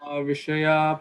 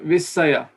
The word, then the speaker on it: Vishaya: Guna Pravriddha Vishaya Pravala. Not Visaya, not Sa, like snake. Sha.